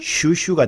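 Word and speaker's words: 蜀黍: 그런데 촉서라는 우리 한자음을 중국어로 발음하면은 한자음이 아니고 중국어입니다. 네. 슈슈가 되는데 우리 한자말 촉서가 아니라 중국어 슈슈가 우리나라에 들어와서 수수가 된 겁니다.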